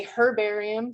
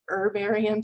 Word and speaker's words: herbarium: i'm going to say herbarium sometimes i say it both ways and i think you know the british convention is to pronounce the h and say herbarium americans drop that h typically so and i just